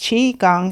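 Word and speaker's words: qigong: Um, so it's chi gong. And you you separate it up like that cuz chi means energy and gong means to work with.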